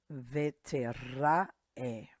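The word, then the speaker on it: וְתֵרָאֶה: Vetera'e. This is silent, so this is e.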